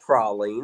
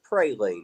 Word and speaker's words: praline: And then uh Dixie's got to come in and tell y'all how to pronounce. It is not prolene. It's praline.